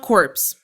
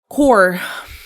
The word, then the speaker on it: corps: It is not corpse. Not course. It is core.